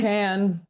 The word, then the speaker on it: Kann: It's pronounced Kann, It's right? Can, yeah.